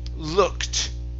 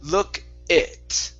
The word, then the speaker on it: looked: Uh, this word here is pronounced looked. Okay. Ed d ending. Okay. It's a t sound. looked. Look at. Okay. Now, what you're saying, you're saying look it.